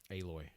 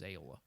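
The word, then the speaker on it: Aloy: always uh i mean they would say a how do you say it a-loi a-loi i for some reason it always went into my head as ayola like uh or uh like the like the sauce or whatever aioli yeah that was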